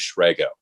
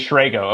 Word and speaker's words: Shrago: It is a long A. It is Shrago. It is Shrago.